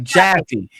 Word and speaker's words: Jaffe: No, not Chafee. Good God. Why are you letting me? Jaffe. Jaffe from California. I thought you were just pronouncing it with a weird accent. I'm like, Now I always say because I always pronounce my J's like ch, so whatever.